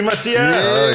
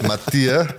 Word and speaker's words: Matthee: Matia. Yes. Matia. Mati. Matia. Matia. Okay. I think it struggles with the pronunciation when the commentator speaks it. It's pronounced Matia.